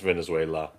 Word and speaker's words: Venezuela: But even outside of that, even if you had congressional approval to strike Venezuela, There's no I at the end, just Venezuela.